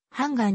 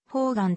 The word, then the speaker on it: 判官: 心理現象を指すホーガンの読みは通常版がんだが義経の伝説や歌舞伎などでは伝統的にホーガンと読むみなもとのよしつめ